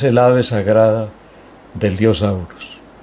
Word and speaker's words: Horus: Se escribe Horus y se lee Aurus, que es el Cristo entre los antiguos egipcios, el dios Aurus.